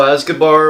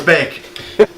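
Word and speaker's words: Asbæk: Yeah, Pillow Asgabar or whatever, Prince of Asgabar. Asbeck.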